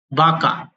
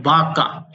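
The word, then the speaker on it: vaca: अपन कहते हैं craze बाका वी का साउंड व की तरह होता है तो बाका एक बुक वोक बुक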